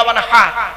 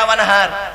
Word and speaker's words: ওয়ানহা: ফসল্লি লিরব্বিকা ওয়ানহা এ গলার ভেতর থেকে এটা উচ্চারণ করতে হবে ফসল্লি লিরব্বিকা ওয়ানহা এর মানে হচ্ছে নবী